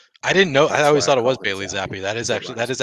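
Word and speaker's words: Bailey Zappe: to hear how how Google tells you it's pronounced is that what you're saying it's Bailey zap Bailey zap Bailey zap there you go there you go there you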